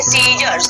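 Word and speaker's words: scissors: जब एस के बाद सी आता है ना, तो वो क्या होता है आपका साइलेंट होता है, उसको प्रोनाउंसिएशन नहीं करते, हम क्या बोलेंगे, सीजर्स, ठीक है, सीजर्स बोलेंगे।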